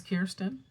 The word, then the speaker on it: Kirsten Dunst: Apparently people say her name wrong. I always figured it was Kirsten. But people apparently call her Kristen a lot.